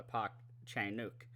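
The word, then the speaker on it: Park Chan-wook: Park Chen wuk well I parked chainuk is the real sort of pronunciation of that that Tony Reigns provides and which I'm very grateful of because I've been saying it wrong all these years but um he his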